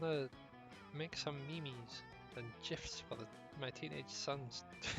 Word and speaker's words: GIF: It's pronounced memes and gifs with a hard G. I'm with the mayor. I say Jeff.